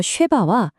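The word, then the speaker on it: שבע: 일곱을 뜻하는 단어 쉐바와 맹세하다를 뜻하는 단어 샤바는 발음이 거의 똑같아요.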